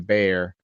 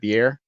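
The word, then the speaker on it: bier: body of a young woman lies on the bear how do you say that beer fire b-i-e-r a gleaming great sword at her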